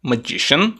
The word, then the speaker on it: magician: vamos colocar dessa cor essa terminação sian não é pronunciada como sian e sim como shan Chan Ok magician magician como por exemplo na palavra politician politician então não é sian e sim shan magician politician the magician